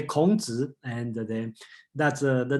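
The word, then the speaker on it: 孔子: And I just look at the chat, okay, and Charles asked me to pronounce how to say Confucius in Chinese. Okay, let's say Kongzi, and then that's the name, just a little bit.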